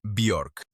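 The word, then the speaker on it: Björk: Además, la forma correcta de pronunciarlo de acuerdo con ella misma en una entrevista es Biork.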